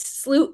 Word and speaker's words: Slooh: Slooh is a pun of sloowing a telescope. So, when you move a telescope, you're sloooing it. And it's spelled ew.